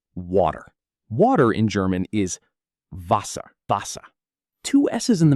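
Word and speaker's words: Wasser: Water in German is vasa.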